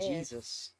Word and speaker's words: Jayzus: the meaning of Jesus j-a-y-z you sound like Jesus and it said how